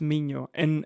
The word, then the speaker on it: Minho: Minho, it's Mino. NH like the Yeah, the the Spanish or the Portuguese. Yes. Okay. That uh that I should have known then. The University of Mino uh was really really cool.